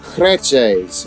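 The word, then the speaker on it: crèches: no gas gretches yeah crochets i think is how you say it spell it c-r-e-c-h-e-s appreciate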